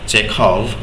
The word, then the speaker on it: Chekhov: না তো Anton চেখভ, দেখো খ রয়েছে, হ্যাঁ উচ্চারণ খ হবে।